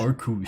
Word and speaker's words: Arceus: Arceus. I pronounce it Arceus.